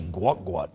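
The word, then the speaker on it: Gout Gout: like okay you can you can call him Gat gout but it's actually pronounced differently no no no so this is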